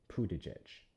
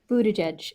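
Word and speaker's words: Buttigieg: Well, ne next time if you want to just say his name, you just go there and hit it bootage edge.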